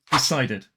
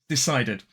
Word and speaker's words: decided: The base word is decide. Now it doesn't technically end in the letter D, it ends in the letter E, but the final sound is D. So it still follows the rule. This is why I said at the start, if it ends in a T or D sound, it is pronounced id.